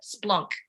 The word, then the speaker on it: Splonk: It's Splunk, but that's an anglicised version of the word. Yeah. So, but that's actually how you say it, Splonk.